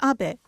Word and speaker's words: Abe: House my name is Abbe but in the United States some people mistakenly pronounce my name as ape but that is not